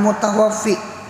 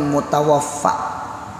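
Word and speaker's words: المتوفَّى: Jadi rupanya tasambat manil mutawafi, dibacanya kasrah manil mutawafi. Jadi ujar si guru berucap al mutawafi itu Allah. Jadi ujarnya nang betakon to Allah yamut, Allah matilah. Jadi ujar guru dihiga manil mutawaffa.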